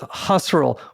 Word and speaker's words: Husserl: Everybody, we're talking with Husserl, which rhymes with casserole.